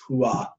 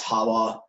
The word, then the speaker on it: Hua: Her actually correct original Hebrew name was Hua. Also pronounced in I think other people pronounce it as Hawa.